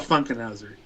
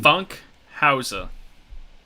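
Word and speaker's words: Funkhouser: Anyway, it's Kyle Funkenhauser. Funkhauser, however you want to pronounce. I don't. There's no N. Funkhauser. Yeah, I'm adding an extra like N in there.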